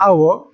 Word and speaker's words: hour: And when H is silent, you use an. And the examples are below: an hour, an ear, an honest man, an honorable person, but a hospital, a hotel.